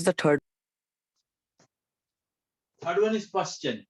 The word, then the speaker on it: Paschen: Third one is Paschen, PASCHEN, Paschen series.